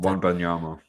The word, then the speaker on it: Wembanyama: Yeah, I wouldn't even know how to pronounce his surname correctly, so I'll have to. Wembanyama.